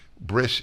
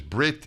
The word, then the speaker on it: bris: Bris is, there are two ways of pronouncing a lot of Hebrew words. And if one is Brit in this case, or bris, S or T.